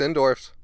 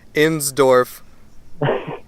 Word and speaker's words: Insdorf: it's me Blake Pope's endorse hey sorry about mispronouncing your name let me try that again ends Dorf good job all right